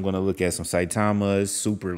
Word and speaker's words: Saitama: to look at um i don't want to butcher the name of it the spelling is s-a-i-t-a-m-a saitama has it's a a ghost wolf so i'm going to look at some saitama's super like like eight zeros into some or